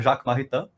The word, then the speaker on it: Jacques Maritain: Eu sou ruim de pronúncia, mas acho que é Jacques Maritain.